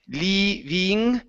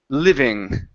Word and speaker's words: living: Okay, short I sound. Instead of living, it's li, living. Living, Okay, very nice.